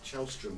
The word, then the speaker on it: Källström: And what about, I understand Kim Källström is the way you pronounce his name.